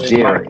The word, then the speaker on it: Gerry: So, the term gerrymander comes from a brother whose name, his last name is pronounced Jerry.